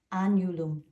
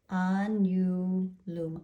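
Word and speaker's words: agnum: Mary love of course Anum write it in it's got that silent G like lasagna Anum I keep reminding you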